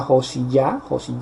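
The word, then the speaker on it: יאשיה: Y pues en este caso vemos cómo Josías celebra, Josías, que en hebreo se pronuncia Josiyah.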